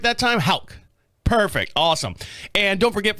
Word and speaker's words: Haugh: And joining us here in the studio this week is Haugh. Did I say it right that time? Haugh.